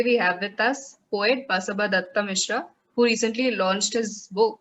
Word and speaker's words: Basaba Dutta Mishra: the founder and editor of Buzz, and today we have with us poet Basaba Datta Mishra, who recently launched his book of poetry, Agaz.